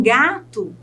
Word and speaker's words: gato: Em gato, é o gá, que também é a penúltima sílaba.